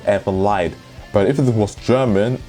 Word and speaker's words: Elfen Lied: Because I'm not sure it's meant to be German, because if it's German it would be pronounced Elfen Lied. But I've seen people pronounce Elfen Lied.